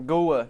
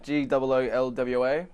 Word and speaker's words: Goolwa: Goolwa, G-O-O-L-W-A. Goolwa. Yeah, it's an Aboriginal name, but to me it sounds more caveman. Goolwa! No, it's a Goolwa! What should we call this town? Goolwa!